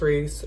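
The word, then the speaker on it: Reiss: putting the labels right here but yeah it's pronounced Reese they are very expensive but it actually does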